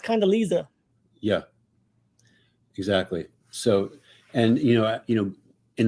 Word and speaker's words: Condoleezza: And again, you can mispronounce it, but 2 E's and 2 Z's. That's not Lisa. That's not Condoleezza. That's Condoleezza.